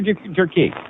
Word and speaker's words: Durkee: Ann, how do you say Durkee or Durkee?